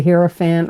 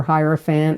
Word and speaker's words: Hierophant: in your reading is the herant or hierophant however you want to pronounce it and this is